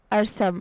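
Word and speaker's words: Arsam: एक पहाड़ का नाम द नेक्स्ट नेम इज अरसम अरसम नाम की स्पेलिंग है ए आर एस ए एम मानी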